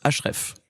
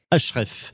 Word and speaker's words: HREF: Vous représentez la société HR F qui se prononce HREF. HREF.